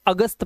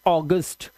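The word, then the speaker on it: August: अब देखिए यहां पर जब किसी वर्ड में ए यू आए तो ए यू को ओ से पढ़ना है। ठीक है? और तभी हमारा एक क्या है? मंथ एक महीना है। इसे आप क्या पढ़ते हो? ए यू जी यू एस T. Hindi में तो इसे अगस्त पढ़ते हैं। अगस्त अ की आवाज लेकिन ये इंग्लिश का वर्ड है तो इसे आप पढ़ते हैं अगस्त। क्या पढ़ते हैं? ऑगस्ट।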